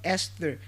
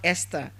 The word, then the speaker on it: Esther: Esther, and not Esther. That's the th there is giving you the silent sound.